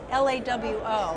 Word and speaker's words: Lawo: So, yes, it is pronounced Lawo, rhymes with Bravo. We are based in German, hence the pronunciation of L-A-W-O in English.